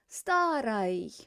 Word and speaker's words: старой: But it's not stressed. The oi is not stressed, so it's going to be pronounced as старой.